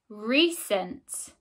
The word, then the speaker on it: recent: Recent.